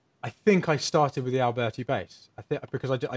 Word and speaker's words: Alberti: Did I say Vangelis bass? It's Alberti bass.